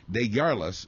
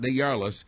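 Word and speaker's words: DesJarlais: pronunciation of this name it's French I believe deas Scott deas has now admitted to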